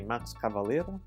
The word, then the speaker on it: Max Cavalera: to people because being Brazilian and as a Max cavalera look alike or should I say Max cavalera to say his name properly it's time for